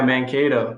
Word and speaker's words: Mankato: I'm pulling up where Mankato, is that how you pronounce it? Yeah, Mankato, the Moondogs.